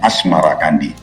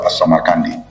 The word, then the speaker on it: As-Samarkandi: Babat Tanah Jawi versi Meinsma menyebutnya Asmarakandi, mengikuti pengucapan lidah Jawa terhadap As-Samarkandi, berubah menjadi Asmarakandi. Maulana Malik Ibrahim kadang juga disebut sebagai Syekh Maghribi.